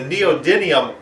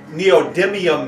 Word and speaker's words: neodymium: year had to be the neodium excuse me neodymium magnet desk toy that